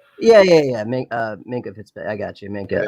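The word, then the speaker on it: Minkah: Landon Collins, Mikael Fitzpatrick. Oh boy. Okay. Did I say his name right? Yeah. Minka Fitzpatrick.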